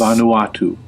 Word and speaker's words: Vanuatu: Bermuda, Bahama, This is maybe one of you can actually pronounce. It sounds mine. apparently like this. Vanuatu.